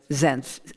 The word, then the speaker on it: Senft: Senft.